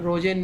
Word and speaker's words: Rosen: Walter जी रोजेन ने, यहाँ रोमन लिखा हुआ है, ROSEN आएगा स्पेलिंग में, रोजेन, वॉल्टर सी रोजेन ने जैव विविधता की बात की है, याद रखिए।